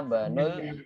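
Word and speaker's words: ابن: Makanya saya bacanya ana benu ya, bukan ana ibnul mudiri, tapi apa? Ana benul mudiri. Ketika ibnunya di awal kalimat, berarti kita baca i-nya. Hamzahnya kita baca i, ya.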